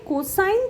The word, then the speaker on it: cos: এর পরেরটা হচ্ছে কোসাইন থিটা।